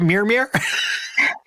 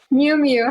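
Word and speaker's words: Miu Miu: Did I pronounce that right? Is it Mmir? Miumu.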